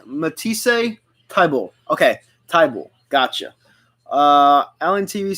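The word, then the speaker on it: Thybulle: fan nice you pronounced let me see you pronounce it Matisse a tie ball okay tie ball gotcha uh Allen TV says go Hawks your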